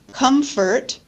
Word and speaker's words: comfort: add a t Prince Comfort we sometimes add a p Comfort Comfort right and